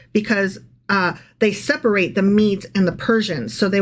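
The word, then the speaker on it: Medes: for 66 years the meadow Persian Empire and by Meadow I'm pronouncing that incorrectly it's the mes it's the Persians and the mes combined okay okay so the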